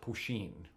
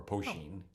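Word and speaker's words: poitín: uh something called uh it's spelled POI t n and I but I think it's pronounced poen or poen it's Irish moonshine oh this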